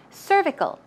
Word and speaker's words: cervical: uterus the neck of the uterus so cervical pronunciation there's a stress right there on cervical cervical one more time cervical good job and the